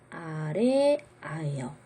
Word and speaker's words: 아래아: 요 점처럼 생긴 요 글자의 이름은 아래 아예요. 아래에 위치하지만 아라고 있는 거죠. 예를 들어서 요 단어 그럼 어떻게 읽나요? 한글이라고 읽는 거죠. 아래에 오지만 아라고 읽는 거예요.